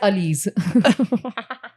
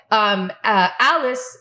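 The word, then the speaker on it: Alis: it is because I read it as Ali's. You know you're desi when you. Guys, it's spelled A-L-I-S. Ali's. Like multiple Ali's.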